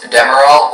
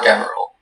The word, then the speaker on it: Demerol: Yeah, there are two pronunciations, Demerol or Demerol.